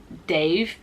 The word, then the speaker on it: Dev: I think for me I would say Dev but I think he is uh Asian and I think it's pronounced Dave um so I thought the